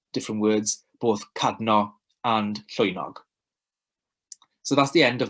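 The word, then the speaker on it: llwynog: be okay great so that is pronounced soy nog and that animal is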